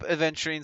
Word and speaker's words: Aventurine: Okay, let's start up Aventurine second thing though.